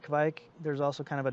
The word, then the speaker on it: kveik: this at the beginning i say kevik most norwegians will say it kevik there's also kind of